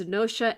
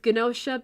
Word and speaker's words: GNOSIA: I've heard it both as nosha and ginosha, but I'm going with ginosha because in the anime in all the trailers and all that, they refer to it as ginosha.